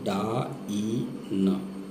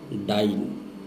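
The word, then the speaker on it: dyne: और जो डाइन है, डी वाई एन ई, short में डी वाई एन लिखते हैं, उच्चारण इसका करेंगे डा ई न, ठीक है, डाइन।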